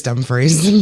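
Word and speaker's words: Dumfries: I think it's actually pronounced dumbfree. It is dumb freeze.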